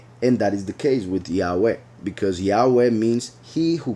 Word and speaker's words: Yahweh: So that would be the correct pronunciation. The right vowels would be I, A, U, E, Yahweh, Yahweh.